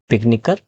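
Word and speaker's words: picnicker: इसके लिए सी के बाद में के अलग से जोड़ना पड़ेगा, ताकि सी का प्रोनाउंसिएशन जो वो के ही रहे। तो कैसे हो जाएगा? फ्रॉलिक, फ्रॉलिक से फ्रॉलिकर, इसमें अलग से के जोड़ना पड़ा, के प्रोनाउंसिएशन मेंटेन करने के लिए।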